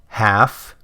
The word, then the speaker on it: half: Half calf. There's no L sound in those words, but take a look at self and shelf, and you absolutely do hear an L sound.